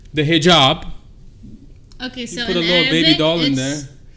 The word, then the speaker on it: hijab: can help me with the pronunciation. The hijab.